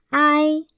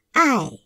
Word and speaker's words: 爱: 最，爱，爱，四声爱。